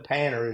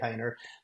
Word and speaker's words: Panter: painter insurance and that's p n t painer is really way it's pronounced but we say painter but you know you can go to my